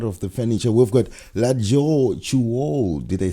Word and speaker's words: Latjor Choul: We've got Latjor Choul.